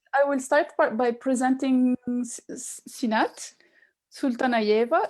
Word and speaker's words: Sultanalieva: So I will start by presenting Syinat Sultanalieva. Is it the right way of telling of saying your family name? Of course not. A little bit not. How do you say it? Sultanalieva.